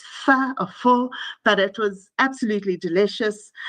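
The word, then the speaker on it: phở: I don't pronounce it correctly. It's pho, but it was absolutely delicious.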